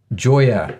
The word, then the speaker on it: Gioia: a personal thing um oh it's pronounced Joya sorry oh and Paul's wife